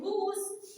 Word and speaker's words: whose: لكن whose وهو نطقنا الاتش والدبليو هي اللي سايلنت. لان الدبليو اتش لما بيجي بعدها حرف الاو بننطق الدبليو بننطق الاتش والدبليو بتبقى ايه سايلنت.